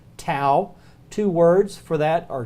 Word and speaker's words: tau: on the vocabulary tests tao exactly like our tea but they pronounce it tau two words for that